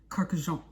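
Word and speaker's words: Kurkdjian: Kurkdijian. One more time. Maison Francis Kurkdijian. Maison Francis Kurkdijian. There it is. Kurkdijian. You gotta put the Jean in it. Maison Francis Kurkdijian.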